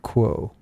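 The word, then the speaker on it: Q'uo: You guys at LL Research still channel, and at this point you channel an entity named Quo, if I'm pronouncing the name. Yes, yeah, that's right.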